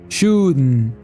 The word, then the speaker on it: shouldn't: expod de pronúncia agora quando ele diz shouldn't ele usa o glotal stop ou seja uma pausa nas cordas vocais e até um som nazal Mas vamos entender de forma simples é comum no inglês americano dizer shoen com som de R mesmo sho and shant nesse caso ele faz uma pausa interrompendo o ar meio que com o nariz e deixando sair novamente shuden shuden esse hum hum